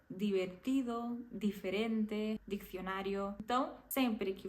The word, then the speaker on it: divertido: essa letra por exemplo no português quando a letra D tá por exemplo com a letra i a gente acaba falando de né divertido diferente dicionário então em espanhol isso nunca vai acontecer sempre vai ser divertido diferente dicionário Então sempre